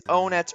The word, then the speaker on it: Onett: Now, a lot of people refer to the city as Onett just because that's how it looks like it would be pronounced. I think that it might actually be Onett because a lot of the cities in this game are named after numbers.